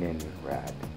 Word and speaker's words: Innenrrad: This time of the Inenrad. I know there was a little confusion about how that's pronounced. Um, but it is pronounced with a long I. So, in rad.